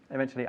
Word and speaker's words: eventually: Don't forget to pronounce eventually with a ch.